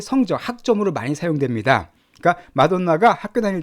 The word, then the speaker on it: Madonna: 자, 마돈나. 이 마돈나인데 마돈나 이렇게 발음해 줍니다.